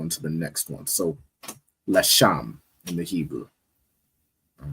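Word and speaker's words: לשם: Which is pronounced in the Hebrew Lasham. Lasham. No sign Christ. All right. So it's the Legia, which in the Hebrew is pronounced Lasham.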